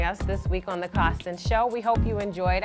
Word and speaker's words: Coston: Or you can check us out on Twitter at CostonFH. Once again, that's at CostonFH. I always say Coston is spelled like Boston, but just with a C.